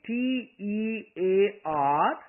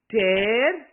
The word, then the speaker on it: tear: Again, T-E-A-R, pronounced as both tear and tear. Two different pronunciations, but when we pronounce them differently, the total meaning changes.